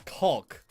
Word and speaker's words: caulk: they use these okay that's not how you that's not really how you pronounce it yeah that's like that's a little off it's it's caulk yes yes there's an l there's an l in there i've been calling